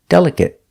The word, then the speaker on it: delicate: the cold clim climate example delicate using the short sound it it delicate example I always wash